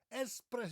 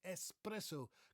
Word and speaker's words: espresso: It's not espresso. Many people think it's espresso because they think of the word express. Namely, probably because it's a small cup of coffee, so they can get it really quickly. But it's espresso. Comes from the Italian word espresso. It means pressed out.